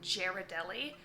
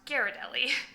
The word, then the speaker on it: Ghirardelli: people pronounce this brand Ghirardelli. It's made in San Francisco, and being from San Francisco, I can tell you it's pronounced Ghirardelli.